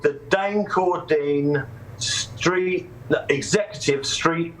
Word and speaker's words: Dain: me what's your name i say dane they say dave i got no dane